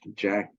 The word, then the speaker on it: Jacques: Uh, Jacques, which is a word in French, is pronounced Jack in English.